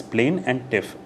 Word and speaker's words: plaintiff: It's plain and tiff.